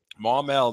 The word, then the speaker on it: Maumelle: Let's talk football with Kendall Donnerson, Redhawks linebacker out of, now make sure I pronounce it right, Maumelle, Arkansas, right? Yes, sir. Maumelle.